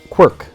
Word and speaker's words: Quirk: вот кириллицами писать, да, Куирк произносится, да, а в Америке вот Quirk произносится, то есть это произносится по-другому, это ирландская фамилия, и это означает,